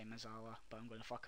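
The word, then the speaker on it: mezzala: I say it wrong, I know, I'm sorry. I say Mez later, so get used to it, but I'm going to try and say Mezala, but I'm going to fuck up a couple of times.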